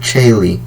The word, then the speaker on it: tjaele: So one example of this is the word Chaile, which is spelled TJAELE. Chaile. So as you can hear at the beginning, we have the Ch sound that's spelled TJ. Next we have the Sh sound.